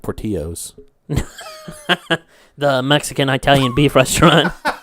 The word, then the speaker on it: Portillo's: a Portillo's no yeah pretty sure it's pronounced poor Tio's the Mexican Italian beef